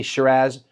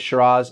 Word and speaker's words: Shiraz: one of the episodes you may have heard me say shiraz instead of shiraz that's because that's how the aussies pronounce it they're the ones that came up with calling the syrah grape shiraz the theory is that